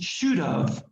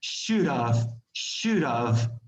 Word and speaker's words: should have: should have, which is should have. That's what it meant in the previous example, that the H is no longer present. It doesn't sound, it doesn't exist. Should have.